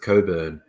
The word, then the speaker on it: Cockburn: I got Musical Aviator asking, do we pronounce Gaylord strange like the Perth suburb of Coburn, which is spelled Cockburn.